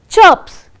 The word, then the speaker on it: chirps: So, this we will pronounce it wrong. Crips antivi, chirps antivi. So, that is all wrong. The bird chirps.